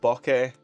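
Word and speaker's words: bokeh: um get realistic looking Boke or Bok uh depends how you want to pronounce it there's bit of an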